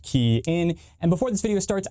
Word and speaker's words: Kian: Hey everybody, it's Kian with the RideShare Guy, pronounced Kian.